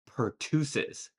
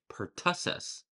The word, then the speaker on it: pertussis: I used to say pertussis, which I believe some of you probably also said, but the correct pronunciation of this word is actually pertussis.